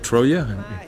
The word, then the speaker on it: Troje: We're in Den Haag in the Netherlands at Paard van Troje. Is that how you pronounce it? Probably bad. Is it Troje?